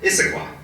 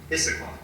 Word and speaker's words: Issaquah: o'clock in issaquansa how you say it yeah Issaquah Issaquah um and then here we are this evening